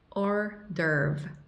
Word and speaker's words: hors d'oeuvre: Y se pronuncia así. Hors d'oeuvre, hors d'oeuvre, hors d'oeuvre.